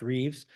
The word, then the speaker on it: Rives: His name's Richard Rives, but pronounced Reeves.